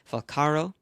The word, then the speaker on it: Falcaro: her name it's Nicole farro I think if you pronounce it correctly in Italian from her grandparents uh ethnic background or guess her ethnic background it is falcaro um she is a